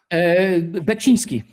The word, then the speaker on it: Beksiński: I know you mentioned, I'm going to butcher his name because I can't pronounce it. Because you mentioned him before. It's Baczynski. Beksiński. Yeah, Yes, Beksiński, the painter.